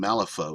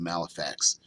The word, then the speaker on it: Malifaux: Malifaux, that's what I was thinking, Malifaux instead of Malifax, because it's a F-A-U-X, not F-A-X.